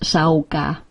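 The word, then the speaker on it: Sága: We are now seers, like goddess Sauga, pronounced Sauga.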